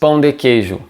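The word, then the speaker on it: pão de queijo: to eat just one so here we have again this o sound in bone so pon de queijo de queijo and now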